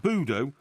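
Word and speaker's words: Budeaux: in plymouth and nearly one third in saint budo uh you know you've never heard of this place how do you spell it b-u-d e-a-u-x okay but it's you know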